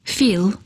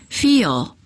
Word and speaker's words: feel: When a long vowel is followed by an L, put an extra a sound in between. Instead of saying feel, say feel. It's almost as if you're adding an extra syllable.